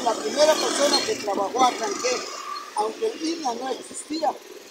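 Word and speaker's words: Acanceh: pero se pronuncia acanqué.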